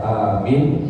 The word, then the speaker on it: amin: Amin itu artinya jujur kalau bacanya Amin Meminta perlindungan maka bacaannya benar adalah amin a-nya panjang n-nya panjang min-nya pjang panjang Oke tapi jangan ada